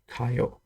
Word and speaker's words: Kayou: But someone was telling me that the correct way to pronounce this is like ka and yo, Kayou, and it means card game in Chinese.